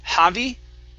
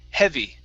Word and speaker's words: heavy: okay very good uh this word here instead of javi heavy short e heavy happy happy good good